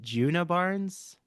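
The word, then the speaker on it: Djuna Barnes: Virginia Woolf's Orlando, or um, how do you pronounce, is it Juna Barnes?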